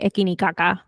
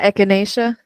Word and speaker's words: Echinacea: I always say ekinikaka, but I know that's not what it is. The ekini Echinacea. one. You know what I'm talking about. The ekini one. Ekini kaka. La echinacea.